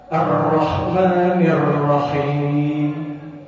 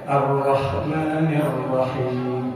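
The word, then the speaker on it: الرحمن الرحيم: di al-fatihah arrahmanirrahim perhatikan ro yang lagi di di di sisi lain yang bacanya arrahmanirrahim rnya biasa aja tu yang bertasdid benar mana Bu Yang pertama apa yang kedua Bu yang yang pertama yang kedua jadi yang enggak boleh yang enggak boleh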